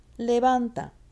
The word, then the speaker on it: levanta: Levanta. Levanta. It's on the van. Now you'll see that I've made a command form that's reflexive, and I've added something to the end of levanta.